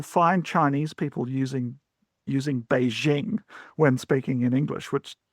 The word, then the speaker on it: Beijing: So, Beijing is like jingle bells, right? The jing of jingle bells. Um, but you'll even find because that pronunciation is so common, you'll you'll find Chinese people using using Beijing when speaking in English,